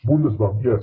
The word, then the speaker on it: Bundesbank: Is that how you pronounce it? Bundesbank? Bundesbank? Bundesbank, yes.